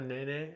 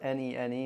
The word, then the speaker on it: Nene: A nene? Is this a ground dwelling bird? Or does it fly? I can't answer that with utmost confidence, but it's spelled N-E-N-E and it's pronounced Nene.